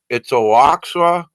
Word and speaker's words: Oaxaca: But Peru has been hit, off the coast of Guatemala again, and I can't pronounce this. It's Oaxaca, Mexico.